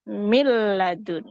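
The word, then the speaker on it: مِن لَّدُن: itu bacanya mirbi atau Min ladun bacanya milladun seperti itu kemudian ada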